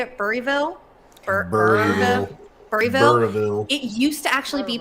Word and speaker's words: Burrillville: Burryville.